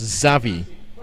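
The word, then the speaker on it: Xavi: stoned for that yeah he's named after chevy of barcelona but uh they pronounced zavi um by his teammates so i'll go with that savvy uh williams what's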